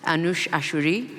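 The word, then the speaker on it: Anoosheh Ashoori: said I'm Iranian so if I get this pronunciation wrong you can hit me with a sharp Implement afterwards anush ashuri that's right o uh who was imprisoned alongside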